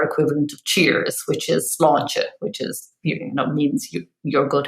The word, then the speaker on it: sláinte: remember is our equivalent of cheers, which is sláinte, which is, means your good health, which it does in lots of countries. I suppose it's like salute. So yeah, if you say sláinte and you raise your glass or your cup